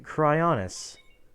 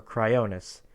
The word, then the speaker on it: Cryonis: That being CRYONIS, or CRYONIS, depending on how you like to pronounce it, and what region you're from, etc.